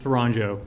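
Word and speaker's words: Tourangeau: absolutely uh t-o-u-r-a-n-g-e-a-u H pronounce it again for us Toronto it's easier and it looks okay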